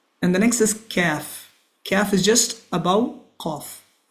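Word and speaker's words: كاف: And the next is calf. Calf is just above cough. Calf this is similar to normal k in English.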